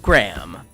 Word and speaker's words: Graham: We've got Slain, rhymes with plain, Hannah, and Graham, rhymes with Pam.